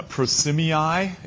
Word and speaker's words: Prosimii: Yeah, prosimii is how it's pronounced. You get to learn some Latin pronunciations in here now.